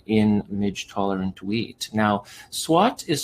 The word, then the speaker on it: SWOT: celebrate this milestone in midge tolerant wheat now swat is spelled s-w-o-t and stands for strength weaknesses opportunities